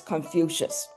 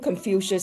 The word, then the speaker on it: Confucius: It comes from pronouncing Master Keng really fast. So Confucius, you say it really fast, Confucius sounded like Confucius to the Jesuits who were in China in the 16th century.